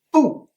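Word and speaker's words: 步: Eh bien ce n'est pas 2, c'est pu, B-U, quatrième ton.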